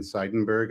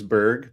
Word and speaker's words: Seidenberg: Um I'm Seidenberg. I've spelled my name wrong in the podcast in the podcast uh uh uh listing there. So, it's not Verg, it's Berg, but you know, whatever.